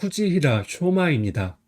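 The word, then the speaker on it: 藤平尚真: 11번은 후지히라 쇼마입니다. 한자는 등나무 등, 평평할 평, 오히려 상, 참지입니다. 등나무 등은 후지라고 읽어요.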